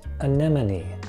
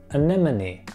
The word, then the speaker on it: anemone: creature that lives under the sea and it's pronounced anemone anemone it's a little bit of tongue twister anemone